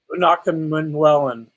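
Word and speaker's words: Prince Umanmielen: Prince, I can't say his name, Umanawellen. Greg, can you help me with the pronunciation of Prince's name? Umanawellen? Unakamwellen.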